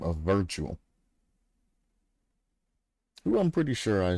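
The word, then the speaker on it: Wirtual: So it's Virtual spelled with a W, because W's are V's, you know what I'm saying?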